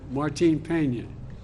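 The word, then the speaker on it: Martín Peña: canal to restore Cano, help me with the pronunciation. Martin Peña, that entire ecosystem.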